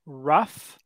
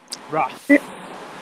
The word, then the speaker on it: rough: For words like rough, enough, and tough, this GH sound at the end actually makes an F sound. So this is actually a F sound at the end. So when we say this word, we say rough, rough.